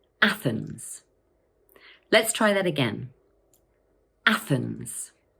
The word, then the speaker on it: Athens: This word has two syllables, Athens, and the first one is stressed. Watch out for that tricky th sound. Put your tongue between your teeth and push the air out, like this.